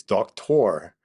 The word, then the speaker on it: Doktor: you know I I I might not even know the right way to pronounce my own name it's I've heard it many different uh versions of it but it's it's it's do tour but even probably I'm botching it so there you go